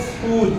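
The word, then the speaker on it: school: लेकिन यहाँ पर हम इसको पढ़ेंगे स्कूल, क्या पढ़ेंगे, तो H इसके साथ जाम हो जाएगा और तीनों मिलके एक आवाज़ देंगे, H की आवाज़ भी नहीं आएगी इसमें, और C और S इसमें H के साथ मिलके एक साउंड अदा करेंगे, स्कॉलरशिप, क्या बोलेंगे इसको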